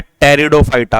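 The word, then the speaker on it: Pteridophyta: और तीसरा होता है टेरिडोफाइटा पी साइलेंट होता है रिडो फाइटा थैलोफाइटा ब्रायोफाइटा और टेरिडोफाइटा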